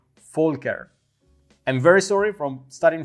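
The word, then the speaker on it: Volker: Folker all the time I was pronouncing your name incorrect saying but my friends from Germany said that it's ink correct and I have to say full care I'm very sorry from starting from today I'm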